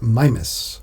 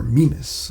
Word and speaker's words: Mimas: a moon of Saturn known as Mimas, or Mimas. I've heard it pronounced different ways.